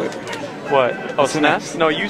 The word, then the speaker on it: SNES: Oh, SNES? No, you said SNES. You're saying you always say SNES. SNES. Oh. SNES. SNES. SNES, okay. It's one syllable, not two.